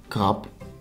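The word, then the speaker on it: krab: Something remarkable for the B is that words ending on a B are often pronounced as P. For example, krap, which is written with a B, but sounds like krap, ending on a P.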